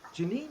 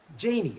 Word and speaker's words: Janie: And then we have Nathan, and is it Janine? Is that how we pronounce that? Janie.